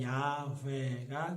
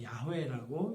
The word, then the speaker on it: 야훼: 또 하나는 이제 최근에 들어서 읽게 된 방법인데, 대부분의 하나님의 명칭에 들어가는 모음을 찾아봤더니 아와 에가 많이 들어가 있더라는 거예요. 그래서 거기에 붙여서 읽어보니까 야훼가 됐다는 거예요. 그래서 야훼라고 읽기도 한다는 거죠.